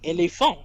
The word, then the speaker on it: éléphant: In French, you always put the stress in a single word on the final syllable. Elephant. And in a sentence, perfect. Yeah, exactly. Éléphant, voilà.